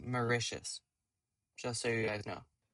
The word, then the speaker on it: Mauritius: It's pronounced Mauritius.